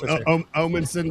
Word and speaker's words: Omanson: Omanson, but everybody says Omanson, so it's totally fine. Right? Omanson. Yeah, there it is. I gotta really pronunciate that O.